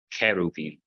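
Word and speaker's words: χερουβείμ: for Byzantine Greek is when you start the letter with a chi, like in cheruvim for cherubim, cheruvim.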